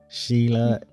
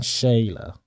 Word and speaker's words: Sheila: Sheila, it's been an absolute pleasure, really and truly has.